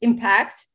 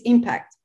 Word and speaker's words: impact: And the verb is impact. Yeah. So how do you impact something? Yeah. Right? Yeah. Okay. To impact, stress on the second syllable, and impact, stress on the first syllable.